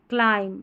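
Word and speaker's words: climb: एम बी एम बी को म पढ़ना है। ये लास्ट में रहेगा। ठीक है? एमबी लास्ट में रहेगा स्पेलिंग की। और बी इज साइलेंट। यहां पर बी साइलेंट है। बी नहीं पढ़ा जाएगा।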